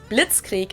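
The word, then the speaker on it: Blitzkrieg: We pronounce it blitzkrie in German, and it literally translates to lightning war because blitz is lightning and creek is war.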